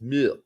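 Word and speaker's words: Muyl: otherwise uh mu Alex mu I'm told it's mu you got to pronounce it mu now um two goals for Nashville Bartlett a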